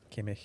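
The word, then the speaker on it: Kimmich: Kimick.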